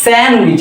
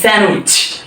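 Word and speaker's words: sandwich: স্যান্ডউইচ না এটা হচ্ছে স্যান্ডউইচ এখানে ডি এর কোন উচ্চারণ নেই স্যান্ডউইচ স্যান্ডউইচ নাম্বার টু আমরা বলি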